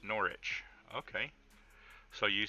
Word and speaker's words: Norwich: Silent W, like Norwich, is pronounced Norwich.